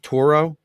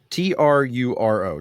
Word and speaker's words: Truro: It's a company called it's Toro. I don't know if you know where Toro is in the Cape. Turo, I think is how you spell it. Okay. But what's real? Yeah, North Toro, Truro, Truo.